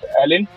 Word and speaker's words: Elyn: my pc from my band ellen which is spelled e-l-y-n and uh it was